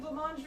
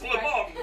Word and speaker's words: blancmange: guys mostly It's pronounce blancmange. No. You guys pronounce French words very Britishly. So I was very surprised. So like you say like garage and fillet, like you don't even try. And then suddenly you get